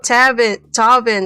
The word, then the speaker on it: Tavin: Oh, Tavin. That's how you pronounce it.